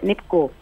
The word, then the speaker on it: nipku: Okay, so you have graciously sent me nipku and kitko.